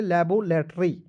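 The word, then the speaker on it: laboratory: बी ओ लैब देखिए दो consonant के बीच में ए आएगा तो उसको उचार अ के रूप करेंगे तो यहां तक क्लियर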